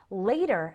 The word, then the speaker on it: later: and when you're speaking there's the pronunciation difference that later has the long a as a name or hate later and latter has the short a as an apple and cat latter repeat after me